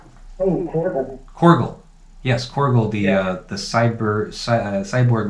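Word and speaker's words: Korgull: Korgel.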